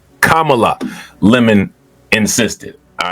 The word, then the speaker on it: Kamala: up with reasons why I wouldn't vote for kamla lemon disrupted the answer to correct the man's pronunciation of the vice president's name Kamala right which you know you know if you